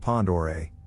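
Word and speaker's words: Pend Oreille: Pacific Northwest northern Idaho to be exact it's pronounced Pond or a by the way Lake Pender Ray is tremendous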